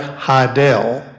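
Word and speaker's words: Hidell: Oswald's alias was Alec Heidel h-i-d-e-l-l as in rhymes with Fidel and he he he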